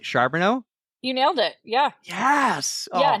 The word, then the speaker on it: Charboneau: I have a hard time pronouncing words but I think I got your last name right. Sharono, you nailed it.